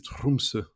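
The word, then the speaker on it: Tromsø: Français j'arrive pas mais en norvégien les r il les roulent comme en espagnol du coup c'est trumse ok ça marche donc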